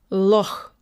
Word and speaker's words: loch: So it's a little bit like the way we say Bach sometimes, and we write it CH, or the Scottish loch. Okay, I don't pronounce Scottish correctly, I'm sure, but it's a little bit like that. Loch.